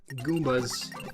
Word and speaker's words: Goomba: It's not a Goombas. It's a Goomba.